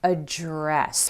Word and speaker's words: address: Address. Careful, this is not address. That's a noun. That's where a house or a building is located. This is address. The emphasis is on that second syllable.